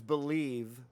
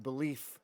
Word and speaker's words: believe: And it has to be a V sound at the end. The word is believe. So this is a V here. So he's pronouncing it more like a F here. Yeah, he's pronouncing the F. The V is an F. And belief instead of believe.